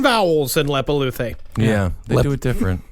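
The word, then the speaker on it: Leppalúði: These I know I'm actually pronouncing right. Okay. There is Grilla and Lepaluthe. Huh. Yeah. Grilla and Lepaluthe.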